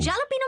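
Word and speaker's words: jalapeño: जालापीनो में जे को कैसे प्रोनाउंस करते हैं? उससे H की आवाज आती है।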